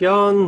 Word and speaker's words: Jahn: is Jeff and the last name is J Ahn which you would never get from the pronunciation non you'll be able to find us really easily well Jeff Yan he is the CEO